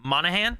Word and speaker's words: Monaghan: Cameron Monaghan, I think is how you say it. Yep. There's G in there. I don't think you So pronounce it. he's Monahan.